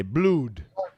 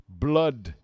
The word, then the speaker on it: blood: you but yeah and i know many many many vietnamese say blued but it's not blued it's up odd blood okay say it again